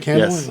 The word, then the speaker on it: Kandolin: Did I say it right, Kandolin?